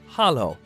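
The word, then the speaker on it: Halló: hello and Icelandic is pronounced Hollow thank you is talk yes is yah no is nay goodbye is bless 14.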